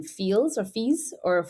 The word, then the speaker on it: Fils: Fee. Okay, great. Okay, but it's spelled Fils. Okay. So Fee, and first of all, I'm cheering for Fee.